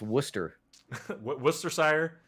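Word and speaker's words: Worcestershire: like uh you know that's pronounced Worcester Worcester sire and so there's all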